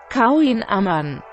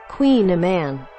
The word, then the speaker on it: kouign-amann: Kouign-Amann. Kouign-Amann.